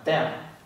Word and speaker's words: 掉: Cái này đọc là tèo. Âm văn Việt là điệu, tức là rơi xuống.